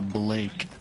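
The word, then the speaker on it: Bulayke: How do you pronounce it? Uh Blake. kind of just like uh sound out my name. My name's Blake. Blake.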